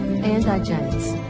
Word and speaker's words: indigence: To correctly pronounce indigence, accent the first syllable, indigence.